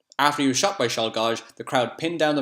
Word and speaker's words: Czolgosz: I'm just going to make an educated guess how to say this guy's name, and then I'm going to check the correct way. Leon Czolgosz. Let's have a look. Nope, not even close.